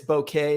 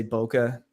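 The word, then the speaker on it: bokeh: is the correct thank you yeah it's it's bouquet is the the correct pronunciation but uh most people will just say Boca which is the out of focus element and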